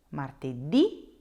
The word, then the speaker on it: martedì: so Monday through Friday, you will need to put a little accent on that last letter.